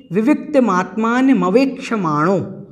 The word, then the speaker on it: विविक्तमात्मानमवेक्षमाणो: तो सबसे पहले तो विविक्तमात्मान मवेक्षमाणो, यह समस्त पद है, इसलिए आपको थोड़ा सा इसमें ध्यान रखना है। विविक्तमात्मान मवेक्षमाणो, इस प्रकार से इसका उच्चारण करना है और अन्यत्र कहीं पर